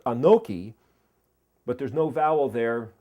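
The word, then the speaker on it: אנכי: It's pronounced Anoki, but there's no vowel there as a Vav. You could see it as Anki, and it basically means I am.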